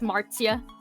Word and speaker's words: Marzia: Well, it's Marcia, like it's Marzia, but like it's Marcia because I think she's Italian.